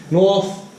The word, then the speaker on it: North: East and West, yeah North, South, East and West, yeah I'm sure you knew this already, now be careful when you pronounce these words, North and South, both end in TH, TH, okay now this